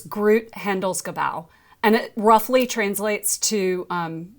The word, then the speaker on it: Groot Handelsgebouw: It's Groot Handelsgebouw, and it roughly translates to Global Trade Center.